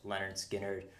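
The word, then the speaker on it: Lynyrd Skynyrd: Okay, next up we've got an all-time classic, Leonard Skynyrd, pronounced Leonard Skynyrd.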